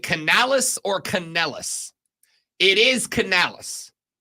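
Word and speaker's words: Canales: Rob is it Canalis or Canalis it is Canalis c a n a l es I have heard a lot of people pronounce it caneles I will also acknowledge that if I'm talking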